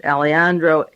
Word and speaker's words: Alejandro: Diaz Alejandro, A-L-E-J, the J is silent, Alejandro, A-L-E-J-A-N-D-R-O, from the Council